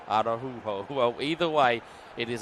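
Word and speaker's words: Araújo: But you might be saying it right, because I see on the U I have a dot, so it may be Araujo. Araujo.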